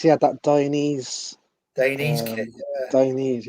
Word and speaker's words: Dainese: Dainese, how you pronounce it.